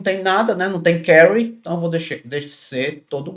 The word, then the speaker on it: carry: Aí esse vai 1 é exatamente o bit de carry que a gente ia colocar aqui.